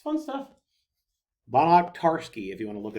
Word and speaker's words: Banach-Tarski: It's not spelled like that. There, there's actually a video where these people are just going over and over again saying Bonner-Tarski, and an orange becomes 2, and then 2 oranges become 4.